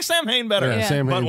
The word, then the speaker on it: Samhain: And we're told, of course, if you know this, that it's short for Samhain, which is apparently pronounced Samhain. Samhain, yes. That is the correct pronunciation.